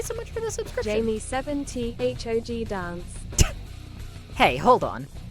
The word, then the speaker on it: Jame: Jame7t HOG dance. Hey, hold on. Why does the machine pronounce my name as Jamie? Like, not entirely wrong, I guess. But, like, my name is Jame.